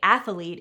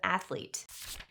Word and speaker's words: athlete: It's the same reason people say athlete instead of athlete.